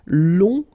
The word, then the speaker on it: long: and then uh okay so long remember you don't pronounce the final J will become long okay